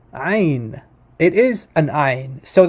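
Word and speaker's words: עין: here's the letter i in modern hebrew would just pronounce like ein ein it's not it's there's not it's no guttural it's not guttural at all um so in in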